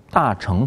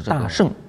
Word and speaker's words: 大乘: 我们要注意一下这个名称，大乘佛教，这是一种说法。也有很多人说是大乘佛教。